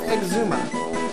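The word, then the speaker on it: Xisuma: Season 7, so why don't we go with Exuma? And I always have to remember this by how Rian pronounces his name.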